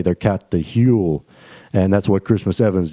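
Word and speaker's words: hwyl: And in the Welsh people's term, they said he caught the Hule. It's spelled H-Y-W-L-E.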